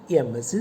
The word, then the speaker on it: MSc: But when you pronounce, you hear the sound A to begin with. So he is an MSc student.